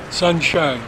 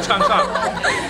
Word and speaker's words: Changsha: Changsha. Sunshine. No, Changsha. Changsha. C-H. C-H. Changsha. Changsha. Changsha. They spell it Changsha with C-H. But we would be probably S-H.